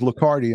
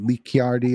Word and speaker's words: Licardi: about that you know my last name is licardi and people always say lee chiardi or litchardi and i